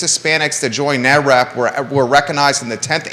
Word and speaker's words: NAREP: NAREP.